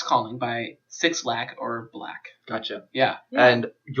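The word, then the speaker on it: 6LACK: It's X Calling by Six Lack, but it's pronounced black, but it's spelled Six, L-A-C-K.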